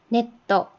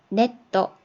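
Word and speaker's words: ネット: 네떠, 네떠, 인터넷이죠.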